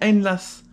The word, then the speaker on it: Einlass: Ok, sauf nous, il y a écrit Einlass tout court, donc ça se dit Einlass. Einlass, c'est admission, ouais. Voilà, donc la bonne prononciation c'est Einlass.